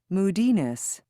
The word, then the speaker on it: moodiness: the on the cd forgiveness when you say it correctly forgiveness give is where the stress is forgiveness not forgiveness moodiness not moody ness don't separate the suffix from the word but we move along